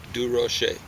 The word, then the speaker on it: Durocher: It's like Ferrerero Rocher. That's how Pauline knew how to pronounce it. Ferrero Rocher. Dur Rocher.